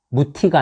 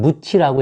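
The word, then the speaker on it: 뭍: 그런데 그 다음에 이가 오면 무티가 아니라 그때는 무치라고 읽어요.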